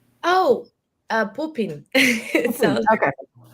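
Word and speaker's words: Pupin: Um can you describe or tell us anything about Papon yet? I can't say it right. P U B I N. Oh uh poopin.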